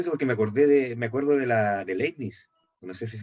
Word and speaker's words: Leibniz: Leibniz se Ah, pronuncia. Leibniz.